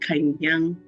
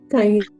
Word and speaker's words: Kanyang: You call my name the way the Americans will call my name. My name is a Nigerian from the middle belt of Nigeria. It is pronounced Kanyang. Kanyang.